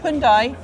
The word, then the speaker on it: Hyundai: I hate to say that because after the Hyundai see I'm still saying it right you are